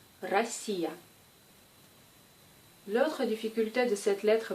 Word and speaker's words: Россия: Cette lettre est un faux ami. J'imagine que vous voulez la prononcer comme P, mais se prononce comme R. R. Comme dans le mot Россия. Россия.